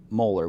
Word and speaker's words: molar: Again this reads as molar. We drop the idi when we pronounce it.